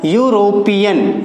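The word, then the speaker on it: European: दोनों ही वावल्स हैं, बट इसका जो प्रोनाउंसिएशन है वो क्या है? यूरोपियन, यूरोपियन। और यूरोपियन में फर्स्ट लेटर जो है वो बन रहा है यू, यानी कि य, और या क्या है, एक व्यंजन है।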